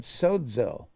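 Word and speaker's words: σώζω: And when it saves, now remember, saved is the word sozo. Sozo. And every time it's pronounced S-O-D-Z-O, the Z in the Greek language is pronounced D-Z.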